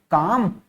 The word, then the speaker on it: calm: यहाँ पे जो एल है ना, उसको अपन प्रोनाउंस नहीं कर रहे हैं, यानी कि जब आप